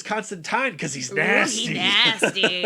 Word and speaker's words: Constantine: absolutely nasty and that's how he likes it pronounced Constantine great pick Eric thank you and our guest